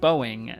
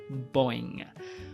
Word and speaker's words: Boeing: I now know it's pronounced Boeing, not Boing.